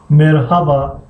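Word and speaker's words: merhaba: ترک ها را میبینین تقریبا ه تلفظ نمیشود. چی خیل؟ مثلا میگن مرحبا مرحبا مرحبا مرحبا مرحبا مرحبا. ه تقریبا تلفظ نمیشود.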